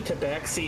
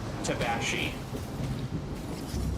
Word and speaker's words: tabaxi: Apparently, tabaxi isn't the only way to pronounce that. Apparently, it's equally correct to pronounce it tabashi.